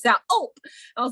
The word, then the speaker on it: ULP: by its acronym ULP, ULP, and they pronounced it like gulp.